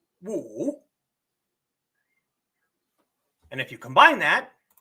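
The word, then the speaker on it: 武: as in marshal arts it has a third tone so it is pronounced wo and if you combine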